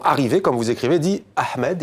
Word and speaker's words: Ahmed: comme vous écrivez dit Ahmed il prononce bien le h aspiré le professeur lui répond en France on ne prononce pas le H tu t'appelles Ahmed répète ton nom Ahmed